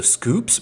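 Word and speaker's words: Schoops: or maybe Scoops Burgers It's s c h o o PS so Scoops Burgers probably I like saying shs Burgers that's way more fun but if it's spelled like school with a p and s then it would be uh Scoops hamburgers Scoops hamburgers Scoops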